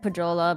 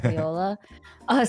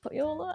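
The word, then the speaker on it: Pohjola: went through the gate of Poyola, I think is how I said Pajola, but then people corrected me. I think it's Poyola, which is fine. I'm okay being corrected with like pronunciation. But I think it's like Poyola.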